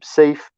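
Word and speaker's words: Sayf: and through persian assistance this is the correct pronunciation of his name safe yes and through persian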